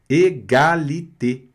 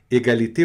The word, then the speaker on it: égalité: O A aqui bonitinho, igual a gente já aprendeu, que o A não tem problema. O I nesse caso aqui também não. Mas o E com agudo é E. Égalité, sempre, Leandro, mas vai ser sempre, Leandro.